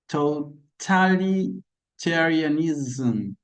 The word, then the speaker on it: totalitarianism: Yes, that symbol that looks like a Z is pronounced Z. Z. So we say totalitarianism, communism, communism, Tsarism, Tsarism, capitalism, capitalism. There's a vibration in that sound, okay?